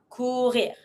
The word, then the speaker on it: courir: Courir. Pronounce the R. Courir.